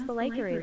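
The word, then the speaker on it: Be'lakor: cool, and shows how much of an ass Belacor is. Belacor. There we go. We have a official pronunciation of Belacor.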